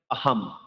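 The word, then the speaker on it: অহম্: এই উক্ত শব্দটি যদি আমরা সংস্কৃত শব্দে উচ্চারণ করতে যাই তবে আমরা উচ্চারণ করতে পারি আহম। আহম বলা যাবে না, মকে টান দিয়ে বলা যাবে না। আমি পূর্বে বলেছি কেননা ময়ের অর্ধেক উচ্চারণ হবে।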